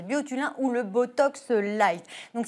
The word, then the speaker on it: Biotulin: exceptionnel alors c'est le moi je le prononce à la français biotulin ou le Botox light